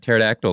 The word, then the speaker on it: pterodactyl: p Pudo yeah and pterodactyl spelled with a p too but you don't say a p yeah I know but